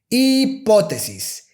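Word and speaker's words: hipótesis: by that is that in spanish the letter h is silent and we have some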